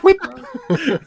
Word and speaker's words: whip: Whip. What? Cool whip. The H is silent.